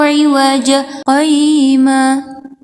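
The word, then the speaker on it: عوجا قيما: Alhamdulillahilladzi anzala ala 'abdihil kitaba wa lam yaj'al lahu 'iwaja qayyima. Di sana terdapat tanda saktah. Nah, dan kalau ada tanda saktah, maka kita membacanya dengan menahan napas sekitar 1 alif atau 2 harokat.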